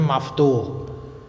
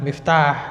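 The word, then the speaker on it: مفتوح: kemudian maftuhatun ada wau maka bacanya Maftuh bukan Miftah tapi Maftuh maftuhatun Apakah pintu-pintu mobil terbuka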